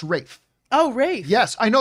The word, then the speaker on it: Ralph: academy award i think that's ray fines is ralph fans it's pronounced rafe oh race yes i know it's it's spelt